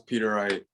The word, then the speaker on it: Peteriet: difficult to pronounce um his name is peter wright peter wright okay thank